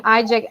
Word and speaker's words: iJack: Please, if you're using iJack app, am I pronouncing it correctly, Tricia? Uh-huh.